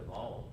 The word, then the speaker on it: Baal: I know his father already been a part of building altars to Baal or Baal, depending on which way you want to pronounce it.